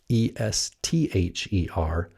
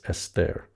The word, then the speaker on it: Esther: So when we see our English transliterations like this, E-S-T-H-E-R, that is coming from the Greek tradition of pronunciation, Esther, like this, Esther. Whereas the Hebrew would be something more like E-S-T-E-R, Esther, like that.